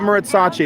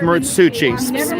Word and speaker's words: Muratsuchi: His name is not Muratsachi, it's Muratsuchi. Please say it right.